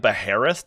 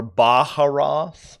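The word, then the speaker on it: Baharroth: You could also take like Beheroth to do that too, which is kind of cute. Or Baharoth, as it I think is officially pronounced.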